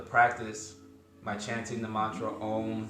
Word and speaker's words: Om: And remember, as we chant the mantra Om, we pronounce the 3 syllables, the A, the U, and the M, the U and the M.